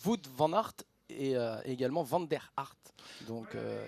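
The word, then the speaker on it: Wout van Aert: là c'est vrai que la prononciation il va falloir faire attention parce que voot vanart et également vaner harart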